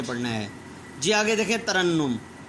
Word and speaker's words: ترنم: جی آگے دیکھیں، ترنم، پہلے دو پر زبر، تیسرے کے اوپر شد اور پھر اس کے اوپر پیش.